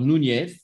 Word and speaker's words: Núñez: docteur Núñez, N-U-N-Z, hein, avec les prononciations à l'espagnol que j'essaye tant bien que mal d'assurer.